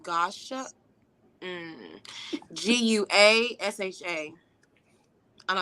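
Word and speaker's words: gua sha: think I'm pronouncing it wrong I think it's pronounced Gosha um g-u-a-s-h-a I know how to spell it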